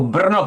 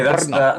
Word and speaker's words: Brno: How do you pronounce that? Oh, Brno Comic Con. Okay, Brno.